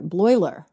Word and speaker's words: Bleuler: a Swiss psychiatrist by the name of Paul Bleuler. I'm very bad with like German pronunciation. I have it right here. Bleuler.